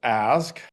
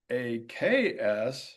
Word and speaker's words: ask: of the word ask, which I have always pronounced ask, and I have been taught, or we usually associate in the United States, that other variants, like AKS, are incorrect and are associated with Black varieties